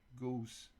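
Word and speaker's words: Gose: International happy Goose day instead of rhyming with rose Goose Goose rhymes with Rosa does it okay let's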